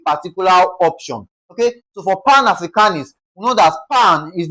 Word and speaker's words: Pan-Africanist: Words ending with I S T, the first label is stressed, okay? So A for Africanist, A is being stressed.